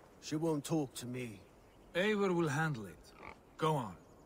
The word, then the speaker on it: Eivor: Eivor will handle it. Go on. See, I pronounce it Ivor, and they say Eivor.